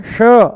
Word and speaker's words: श: जैसे ही हम बोलते हैं श, जैसे ही बोलते हैं हम श, मूर्धा ऊपर से बोला जाता है, श श, जीभ को थोड़ा सा ऊपर घुमा करके तालू से लगा करके बोला जाता है श। इसका उच्चारण है श, मूर्धा ऊपर है ना श, और इसका है स, स, ये है स, दांतों से बोला जाएगा, ये है तालू से श।